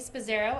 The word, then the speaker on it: Spasaro: My name is Spazzaro. I was asked to spell it, so I'm going to do that.